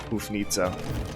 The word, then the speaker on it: Houfnice: how you say it it looks like it's nice but i i looked it up on google before i can tell it's pronounced more like hoof nita um feel free to correct me if i'm wrong but i'm going to call them hoof nitsa so deleting some wall